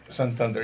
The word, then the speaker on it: Santander: your name right so you make sure I pronounce it right I mess up name sometimes but some Thunder yes ah I got it right and all